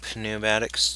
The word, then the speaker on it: pneumatics: tubes I like to add the P sound in there so pneumatics tubes if you hear me say that and you get mad at me well I'm sorry guys but sometimes it's how I pronounce stuff oopsie Daisy and a